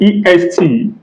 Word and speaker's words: est: So EST is pronounced as hair in English.